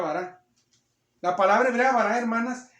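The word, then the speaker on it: בָּרָא: bará se llama así bueno no se llama así se pronuncia bará la palabra hebrea bará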